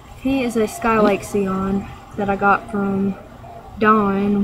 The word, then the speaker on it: Scion: Her name's Sion, or not Sion, Scion. She is a Sion. Her name is spelled like cars, whereas her strain, Sion, is spelled without a C in it.